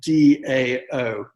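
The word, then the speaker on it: Dão: this wine which is a dao white um it's spelled d-a-o dao white okay it's region dao is a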